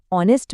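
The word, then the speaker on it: honest: ऑनेस्ट में एच की आवाज नहीं आती। वो साइलेंट है।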